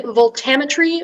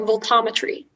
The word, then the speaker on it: voltammetry: It can be voltammetry or voltammetry.